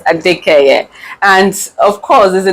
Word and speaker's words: Adekeye: Did I pronounce that right? Yes. Yes, ADEKEYE.